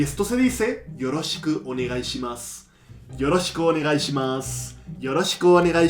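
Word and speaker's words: よろしくお願いします: Y esto se dice Yoroshiku onegai shimasu.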